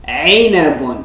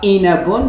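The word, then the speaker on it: عنب: Ensuite, aynun, aynun, aynun, aynun, aynun, aynabun. C'est pas inabun, c'est aynabun, aynabun.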